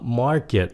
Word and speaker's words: market: một chữ này là market nhấn âm một trong cái âm Mark market còn cái chữ supermarket